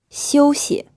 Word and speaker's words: 休息: 休息. This word is pronounced in the first tone, and the second syllable is unstressed.